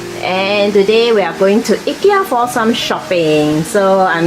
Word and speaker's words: Ikea: Yeah, over here we pronounce Ikea as Ikea. I know some of you dears in the US pronounce as Ikea, but here we pronounce, most of us will pronounce as Ikea.